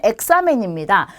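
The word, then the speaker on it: examen: 자, 그 다음에 엑사멘입니다. 자, 얘도 가장 첫 글자에 있기 때문에 에 발음이 나요.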